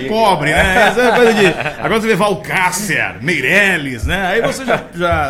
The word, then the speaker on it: Walcacer: porque eu quase sempre cometo erro, né, na pronúncia. É Valcácer. Valcácer, né?